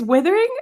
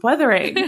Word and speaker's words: Wuthering: Right before we started recording, I said to Piper, am I saying it right? It's withering? And she goes, no, that's like withering away. It's weathering. And I'm like, oh, I've